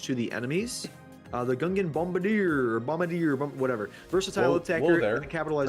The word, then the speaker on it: Bombardier: The Gungan Bombardier, whatever. Versatile attacker that capitalizes.